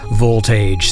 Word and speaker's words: Volt Age: will be chatting with Voltage. So this is Voltage with Starflight. right. Well, I am here right now with Volt Age. Is that how you say it? Yes, that's right.